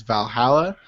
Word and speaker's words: VA-11 Hall-A: It's this game called the only good way to pronounce it's Valhalla.